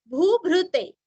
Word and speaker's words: भूभृते: भूताय भूभृते, भूभृते, भ्रुकुटी का भ्रू, भूभृते।